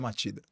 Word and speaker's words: Machida: Matida. A escrita é Machida com CH, mas a pronúncia é Matida.